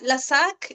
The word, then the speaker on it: Lassaque: ¿Por qué si no como en Paula, porque en realidad mi apellido es vasco francés y en el francés la e no se pronuncia y también me pasó